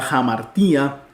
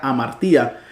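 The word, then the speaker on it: ἁμαρτία: ejemplo en esta palabra jamartía vemos que la Alfa tiene el espíritu rudo uno no lo traduce ni lo pronuncia amartía sino que al tenerlo es jamar tía Qué significa pecado cuando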